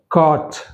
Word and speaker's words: caught: Naughty, naughty, caught, caught, brought, brought, bought, bought, night, night, taught, haughty, right? In these all the words, GH letter is silent.